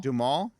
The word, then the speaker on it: Duhamel: Wait, Josh Duhamel? Duhamel?